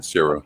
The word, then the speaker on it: Cera: Scott Pilgrim, Netflix anime series, reunites film's cast from Michael Cera? Is that how you pronounce that? Yeah, Sarah.